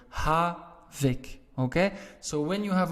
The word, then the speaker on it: havik: k's at the end why don't you write to the case because your stress is on the first part of the word ha vic okay so when you